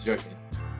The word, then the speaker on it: Jerkins: Damon Elliott, Jerome Nobody Foster, Wyclef Sean, Rodney Jerkins, or is it no, it's not Jenkins, it's Jerkins.